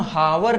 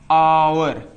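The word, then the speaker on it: hour: जैसे हमने लिखा एच ओ यू आर इसको हम हावर नहीं पढ़ सकते। इसको हम पढ़ेंगे क्या? आवर।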